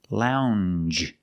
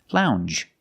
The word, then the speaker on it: lounge: And we have the j sound, the regular n, plus the j sound. Lounge. Lounge.